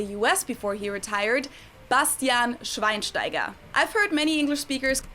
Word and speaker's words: Schweinsteiger: wrong speakers call him swine steiger the sch is actually pronounced like a sh sound and then the e